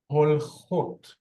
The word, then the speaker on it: הולכות: Holchot. Holchot. Remember, the singular was holekhet. Pluralized, it just became holchot. We can hear the ot sound.